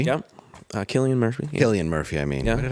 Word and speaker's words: Cillian Murphy: Best actor was Cillian Murphy. Yeah. Cillian Murphy. Yeah. Killian Murphy, I mean.